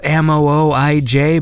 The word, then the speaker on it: Mooij: It's spelled M-O-O-I-J, but it's pronounced Mooij, and this is a fun one.